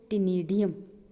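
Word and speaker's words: ctenidium: टेनिडियम, सी को हमने साइलेंट रखना होता है।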